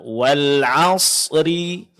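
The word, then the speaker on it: والعصر: Nah, di sini perlu kita perhatikan pengucapan huruf ra pada surat Al-'Asr. Ini mesti dijelaskan huruf ra-nya dan ditebalkan. Ya. Cara untuk menjelaskannya, pertama kita baca huruf ra-nya dengan sempurna dengan barisnya.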